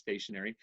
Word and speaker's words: stationery: It's still pronounced stationary, but stationary means it's stable, right?